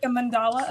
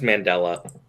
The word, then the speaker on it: Mandela: I think that's called the mandala effect. Yep. I think it's Mandela. Mm-hmm. Mandela. The Mandela effect. It's named. The wrong syllable.